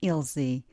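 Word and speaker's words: Ilze: I said IL zebra now take off my bra I mean the final syllable of Il zebra and you'll be left with my name IL Z if you also want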